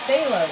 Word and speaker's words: Phthalo: Phthalo. Is it? Oh, it's TH. Phthalo blue. Oh, thank you, Bob Ross. Why would they do it PH and then have it sound as TH?